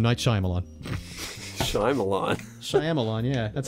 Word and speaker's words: Shyamalan: we don't know either directed by M night Shyamalan yeah that's how you pronounce it really I'm alone yeah Shyamalan now it's SH hold on Shyamalan sh Y